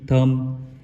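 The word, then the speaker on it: thumb: लब्ज है हमारे पास थम टी एच यू एम बी थम यहां पर बी साइलेंट हो जाएगा अगेन जैसे रूल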